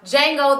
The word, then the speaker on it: Django: hours and I watched Jango the D is silent Unchained and you guys